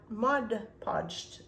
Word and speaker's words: Mod Podge: So I went ahead and prepared these ahead of time, and I also Mod Podged them.